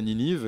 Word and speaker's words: Ninive: Ouais, alors voilà, en français Ninive, et c'est la même façon de prononcer en anglais, mais pas écrit pareil.